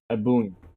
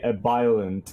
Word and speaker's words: Ebullient: Ebullient. Please. So you can understand how to properly pronounce this, you uncultured swine. Ebullient. Name. I've had people call me a violent, and I cringe so hard.